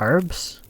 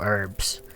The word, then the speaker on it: herbs: You pronounce herbs with H? Isn't that like the proper way to say it? Say like herbs? I know Americans go herbs, but it's like, I